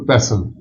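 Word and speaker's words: pestle: यहां मैंने लिखा है माटर ये एम ए मोटर नहीं है एम ए माटर पसल टी साइलेंट है कुंडी डंडा मसाला कोड़ते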